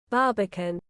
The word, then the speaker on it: Barbican: How do you pronounce it? Barbeacon? Barbican. Barbican, really?